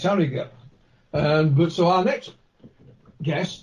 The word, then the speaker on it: Harrogate: and that's Harrogate, and they pronounce it Harrogate. But as far as I'm concerned, it's Harrogate.